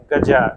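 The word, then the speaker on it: ग़ज़ा: तो इजराइल और फिलिस्तीन आप इसका उच्चारण तरह तरह से कर सकते हैं हां वही पलेस्टाइन फलस्तीन फिलिस्तीन उसी तरह गजा गाजा फिलहाल मेरे लिए जो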